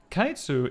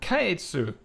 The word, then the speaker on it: Caetsu: almost I named her kaitsu which has an an e that you can choose to not pronounce and it is intended to be pronounced in like a Japanese style which means that you